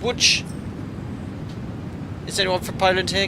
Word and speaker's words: Łódź: It's pronounced Łódź.